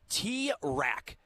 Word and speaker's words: T-Rac: How do you say that? T-Rack. T-RAC. Oh, like raccoon.